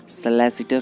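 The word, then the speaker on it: solicitor: एक तो होता है सलैसिटर होता है, इसको हम सलैसिटर भी कह सकते हैं। अगर ब्रिटिश एक्सेंट में कहना हो तो सलैसिटर होता है, और अगर इंडियन में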